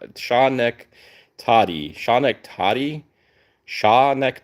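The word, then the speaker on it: Schenectady: I love when people pronounce things for me, or like break it down for for my terrible pronunciations. Shaw neck tati. Shaw neck toddy.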